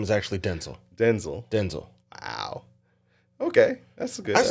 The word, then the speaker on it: Denzel: in an interview that the correct pronunciation of his first name is Denzel really yeah not Denzel that's the country way I guess yeah Denzel